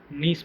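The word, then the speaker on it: gneiss: इसको हम नीस पढ़ते हैं, जी साइलेंट होता है, ओके।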